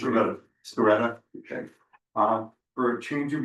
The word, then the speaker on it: Sciaretta: Is that the right way to pronounce it? Sciaretta, okay.